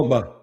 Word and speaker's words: Ogbah: How do you pronounce his name? Oh, who, Emmanuel Ogbah.